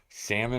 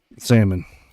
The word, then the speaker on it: salmon: I think it's caramel salmon or salmon salmon there's no l pronounced people say salmon I